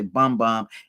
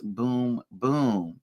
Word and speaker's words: Bum: I remember talking about it a couple of years back, and I would say bum, and everybody would say, no, it's boom. And they phonetically spelled it out for me.